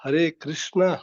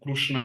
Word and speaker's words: Krishna: say Krishna properly yeah see it's not Krishna that is completely wrong uh that actually some some different from Gujarat in Gujarat also they pronounce it krushna krushna but that is wrong uh we pronounce it as H Krishna har har Krishna so it's not completely re